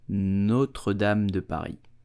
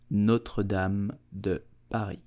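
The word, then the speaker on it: Notre-Dame de Paris: more video about French pronunciation so you will pronounce it Notre Dame Dubai Notre Dame the pie not them the bye Notre Dame Dubai did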